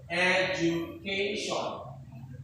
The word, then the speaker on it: education: Education. Okay, so everybody, education. Education, institution, concentration, demonstration. Okay, so most noun or most words ending with Sean, Shan, they stress on the second last syllable.